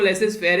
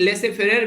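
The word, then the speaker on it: laissez-faire: एक शब्द यूज किया जाता है यहाँ पर जिसको लेसेस फेयर आप लोग बोलते हैं नॉर्मली, तो यहाँ पर ये लेसे फेयर भी इसको बोला जाता है, प्रोनाउंस कई तरीके से करते हैं।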